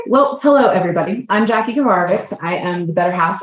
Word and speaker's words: Kovarovics: So yes, Kovarovics is how you pronounce it.